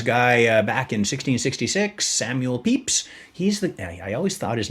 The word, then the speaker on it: Pepys: So there's this guy back in 1666, Samuel Pepys. I always thought his name was Pepys. It's spelled P-E-P-Y-S, you know?